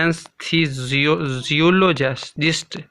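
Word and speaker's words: anesthesiologist: असल ये लफ्ज़ है एनेस्थीसियोलॉजिस्ट। एनेस्थीसियोलॉजिस्ट, एस को हमने जी पढ़ना है।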